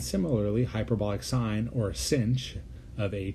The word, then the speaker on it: sinh: over 2 and similarly hyperbolic sine or a sinch of a t is e to the a